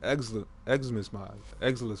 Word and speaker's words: Exilus: One of those sides may have an Exilus mod, or whatever the hell it's called.